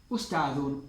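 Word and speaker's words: أستاذٌ: Un profesor sería, obviamente, ustadun, ustadun, ustadun, un profesor.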